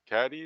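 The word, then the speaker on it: Cady: the lead K Katie caddy or something they call they call it's Katie but it's spelled c a d y yeah uh so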